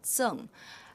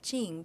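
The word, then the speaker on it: 甑: check the dictionary, then this character is pronounced as zeng, and zeng is actually that container that you have used to make the cake. And why we call that Jing, the cake of Jing? Because in the local dialect of Xi'an, the people would pronounce like Jing.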